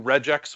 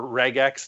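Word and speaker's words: regex: cleaning with the new Reax functions in Excel or Regax depending on how you pronounce it. That just feels dirty to me. Uh but Reax is is my way of going.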